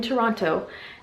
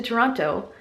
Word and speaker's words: Toronto: when we've landed in Toronto. And I just said Toronto like an American. I read online you're not supposed to pronounce the T if you're from the area, otherwise everyone knows you are not from Ontario.